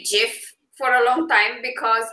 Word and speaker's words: GIF: Right, because at the same time, the creator says it's GIF, but it stands for graphics interface. So it's a hard G that it stands for, so it makes sense that you would call it a GIF.